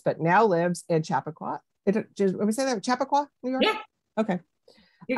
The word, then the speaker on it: Chappaqua: Chappaqua, New York?